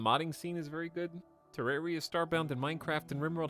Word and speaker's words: Terraria: I would say Terraria, Fallout New Vegas, and what are some other games we did?